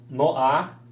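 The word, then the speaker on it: נֹחַ: E Noé, Noar, né, que é o Nun com O, o Het com A. Não se lê Nohá, se lê Noar.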